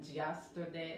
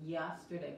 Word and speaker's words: yesterday: yesterday, ok, yesterday, aquí, muchas veces les digo que la Y se pronuncia como la LL de español, pero muchas personas cuando pronuncian esa letra, yo sé que muchos hispanos juntan los dientes y dicen yesterday, así que no es yesterday, okay, es yesterday, por nada se juntan los dientes.